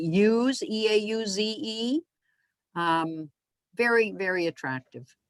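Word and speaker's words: Eauze: This one here was in, I'm not going to pronounce it right, Euze, E-A-U-Z-E. Very, very attractive. Eels. How, say that again? Eels.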